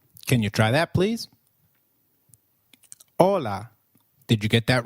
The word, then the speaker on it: hola: Hi is called hola in Spanish. Can you try that please? Hola. Did you get that right? Ola. Remember, H is always silent in Spanish. We do not pronounce it.